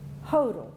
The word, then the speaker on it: Hodel: cousins sons of Brothers Hodel Walker said rhymes with yodel everybody remembers that they